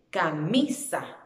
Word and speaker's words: camisa: En la sílaba mi, camisa, camisa.